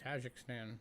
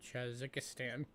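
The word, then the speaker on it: Tajikistan: it shouldn't be because it's just tajik stan it's not chazzikistan that's how you spell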